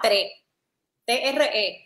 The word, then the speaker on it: Tré: Se llamaba TRE, con acento en la E, sin S al final. Okay. Como los puertorriqueños decimos, el número 3.